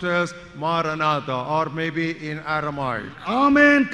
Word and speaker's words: Maranatha: In Greek it is pronounced as Maranatha or maybe in Aramaic.